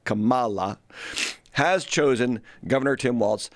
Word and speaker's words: Kamala: night because kamla and I was corrected on how I was pronouncing her name Kamala not Kamala has chosen Governor Tim